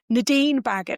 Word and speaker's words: Nadine Baggott: Nadine Bagot. N A D I N E B A G O T. Rhymes with maggot.